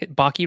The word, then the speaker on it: Baki: Chris Baki, sorry, Baki rhymes with hockey.